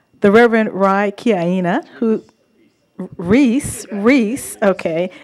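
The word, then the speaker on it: Rhys: The Reverend Rai Kiyaina, who Reese, okay. It's spelled R-H-Y-S, everyone. Okay, Reese.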